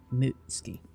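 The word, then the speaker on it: Mutsuki: But when it's followed by ki, take out the u. Mutski.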